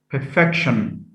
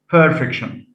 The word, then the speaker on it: perfection: the stem and that stress is shifted from the first syllable to the second so ion perfect has stress on the first syllable by adding i o n we get perfection perfection not perfection injure could be a